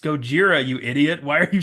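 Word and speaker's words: ゴジラ: gets mad at the way that the reporter pronounces it's supposed to be Gojira he says Godzilla and she's like it's pronounced Gojira you idiot why are you saying Godzilla it's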